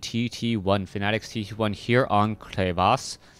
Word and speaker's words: Crevasse: Fanatics tt1 here on clas I believe I'm pronouncing that correctly it looks like crevice to me um but then someone's like no no no it's clas it's um I don't